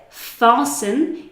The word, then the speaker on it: fasten: This word here, fasten, you will already have heard this word on an aeroplane when they say fasten your seatbelts before takeoff.